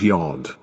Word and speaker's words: yod: Your blessed 10th letter is pronounced Yod, and is written similarly to a 0 in Arabia.